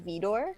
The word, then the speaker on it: Vidor: 1934 called our daily bread directed by King Vidor haha that's how you say his name so